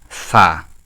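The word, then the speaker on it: فاء: হবে ফাটা কি হবে এটা পা হবে না এটা যদি কেউ বলে পা এটা ভুল পা নয় নয় এটা হবে ফা ফা ফা ফা ফা এক আলিফ টান হবে ফা এক আলিফ টান হবে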